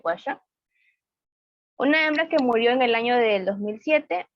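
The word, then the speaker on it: Washoe: El primer chimpancé en aprender el lenguaje de signos norteamericanos fue el chimpancé Washer, nuestro pronunciación Washer, una hembra que murió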